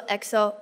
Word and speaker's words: EXO: 一心哥呢在 XO 出道，虽然写作 EXO，但是读作 XO，因为 E 不发音。